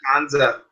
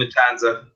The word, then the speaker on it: Matanza: So for this match, my own personal wishes is for how the hell do you say his name? Matanza. Matanza. Yeah. You just call him Matanza.